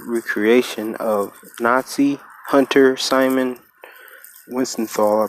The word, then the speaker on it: Wiesenthal: of Nazi hunter Simon Wiesenthal, I believe that's how you say it, Wiesenthal, who survived a Nazi